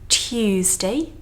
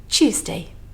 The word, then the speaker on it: Tuesday: And in between the letter T and the letter U, we've got a bit of a Y sound going on. So we can pronounce it as Tuesday.